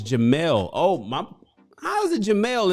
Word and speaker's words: Jamal: the house oh j he says it's not jamal it's jamelle oh my how's it jamal and there's no